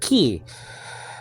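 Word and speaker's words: כי: So just say ki. That's all. Especially the yod after it is acting like a vowel. So in those circumstances, it's really E. It's like a long I sound.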